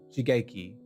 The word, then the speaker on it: Shigeki: how to say this rage may too eh she gay key shigeki okay john with the two spinning wheel kicks